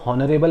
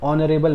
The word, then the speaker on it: honorable: ये HONORABLE मैन, अगर पढ़ूँ इसको मैं उसके हिसाब से तो वो हॉनरेबल मैन हो जाएगा, बट उसको एक्चुअली प्रोनाउंसिएशन कैसे करते हैं, ऑनरेबल मैन।